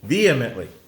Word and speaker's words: vehemently: that I don't know vly vehemently it's because there's an H in there and I want to pronounce that H vehemently they were vehemently